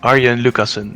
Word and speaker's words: Arjen Lucassen: Arjen Lucassen, it's Dutch.